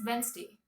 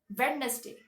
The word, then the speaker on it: Wednesday: the actual pronunciation is Wednesday all right even though it has a d inside it we it is w